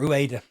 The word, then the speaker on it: Ueda: The next one is Ayase Ueda or Ueda. When I checked pronunciations, they said it was Ueda. FIFA called him Ueda.